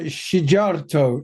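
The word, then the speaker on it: Szijjártó: union yeah exactly now hungary's foreign minister Peter sharto is that a half decent pronunciation Taylor yes yes Peter shato has snapped back accusing the bordic and Nordic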